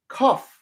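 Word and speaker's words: כ: So you have your palm and a palm bends and that's the meaning of it and it is cuff cuff. I also remember this like you cough into your hand like right.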